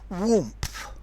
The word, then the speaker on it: warmth: For example, warmth. Warmth. This is spelt W-A-R-M-T-H, but there's a P in the middle. Warmth. That P is the excrescence.